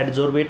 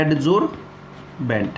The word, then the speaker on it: adsorbent: बेंट की जो pronunciation है उसको कैसे याद रखें, बेंट बेंट टेंट, मतलब इसकी जो प्रोनाउंसिएशन है बेंट वो कैसे याद रखोगे, टेंट याद रखोगे।